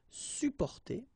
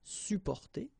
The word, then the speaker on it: supporter: You can also add this SUP in front of porter, sup, supporter, supporter. You don't really pronounce the two or the double P here, supporter.